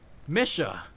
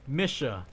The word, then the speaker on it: Misha: Misha. Like it's a lady's name. Misha. Like Mission Impossible, but without the impossible.